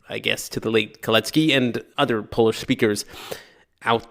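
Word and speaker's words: Kalecki: In fact, it should be Kletki. That would be the proper Polish pronunciation. So apologies I guess to the late Kletky and other Polish speakers out there.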